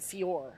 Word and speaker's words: Fiore: I believe it's Ed Fiore. I believe he told me there's no E.